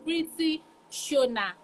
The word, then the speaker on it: Pweeti Shona: So it's Pweeti Shona. So Shona. Okay, that's great. Thank God. Thank you. Because I've been trying to pronounce the name.